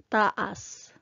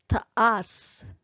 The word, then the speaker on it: taas: There's a word which is spelled the same way, yet it connotes a different meaning. And it's also the stressing of the word when you pronounce it is different. So taas means up, but if I say taas, that means long or tall.